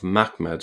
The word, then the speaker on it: Mahmad: And um in the case of mahmed this would lead to a pronunciation of mmed. And this is typically the way I pronounce the word. Okay. Uh so it is the same as the ch sound in back or lock as in lockchess monster.